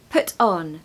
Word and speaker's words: put on: don't worry it's coming put on again you're going to stress the first word because it carries the most meaning right put so put on put on and really to make it sound really natural you're going to blend those together you're not going to say put on you're going to kind of blend them so put on